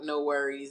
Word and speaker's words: NxWorries: him and knowledge um I assume you say it like that like no worries it's n worries so um you know